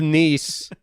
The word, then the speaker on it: Nice: Cut to Nice. De Niro is. Oh, is it nice? It's pronounced nice. Yeah. Just the like city's so nice they called it Nice.